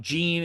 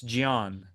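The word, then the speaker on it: Jean: from what I understand it's not Gan it's Gian like Gian GI Gian Gian Silva anyway Gian Silva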